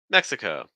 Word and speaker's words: Mexico: she's still with us Mexico Mexico okay so stress that first syllable I was just working